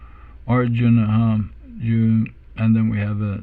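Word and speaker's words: अर्जुन: The R comes on top, this combined consonant cluster here, R, and then we have a short U sound, Arjuna, and then we have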